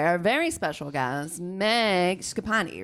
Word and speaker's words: Schipani: joined today by our very special guest Meg scapani right yes great I said it right you